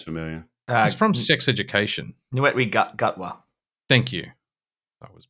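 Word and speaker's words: Ncuti Gatwa: Netwe Gutwa. Thank you. I was mispronouncing it.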